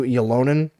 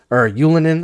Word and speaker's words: Ylönen: Along with Drouin, big shout out to Ylonen, or Ylönen, I guess is the proper way to pronounce it.